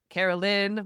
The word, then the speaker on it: Caroline: Because like it's Carolyn, but it's spelled Caroline.